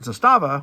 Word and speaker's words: Zastava: This is how I know it's pronounced Zastava and not Zastava, which is how I was saying it.